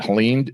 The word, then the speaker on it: Helene: absolutely devastated okay in the hurricane was it Helen is it is that how you say it